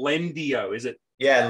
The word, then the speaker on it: Lendio: how do you spell lendi o is it yeah lendio uh it's l e n d i o almost like the it's almost like the spanish pronunciation of the word uh but yeah lendio